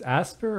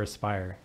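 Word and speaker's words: Aspyr: they spell it a-s-p-y-r so it's asper or aspire i'm just gonna assume that they want it to be pronounced aspire i don't know so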